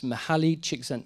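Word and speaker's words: Mihaly Csikszentmihalyi: mashed onto the keyboard this is exactly how you spell this guy's name uh and the way you um it's pronounced is mahali chiksen mahali uh he's an american hungarian psychologist um and he talked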